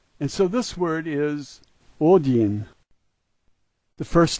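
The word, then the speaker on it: один: is a D sound, the backwards N is a double E sound, and the H is an N sound, and so this word is odin.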